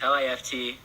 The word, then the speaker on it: L.I.F.T: like eleven future times li ft is how we pronounce it by the li ft